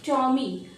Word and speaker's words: Tommy: टॉमी यानी कि टा में आपको जो ओ है वो चांद जो हम बनाते हैं ना हिंदी का, तो उसी से प्रोनाउंस किया जा रहा है टॉमी। और ये मॉमी की तरह आपको लग रहा होगा, मम्मी की तरह है, तो टॉमी।